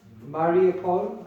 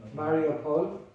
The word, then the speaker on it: Mariupol: She was stuck in Mariupol, I think that's how you say it, Mariupol.